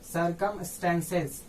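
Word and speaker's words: circumstances: अब यहाँ देखिए तो सी के बाद ई आया है, यानी इसको फिर इसको स पढ़ना है, यानी इसका प्रोनाउंसिएशन होगा सर्कमस्टेंसेस।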